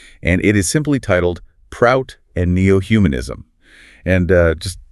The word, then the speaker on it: PROUT: Whenever we refer to the uh socioeconomic part of this framework, we'll be saying prout as a single word rhyming with sprout rather than stalling out the letters.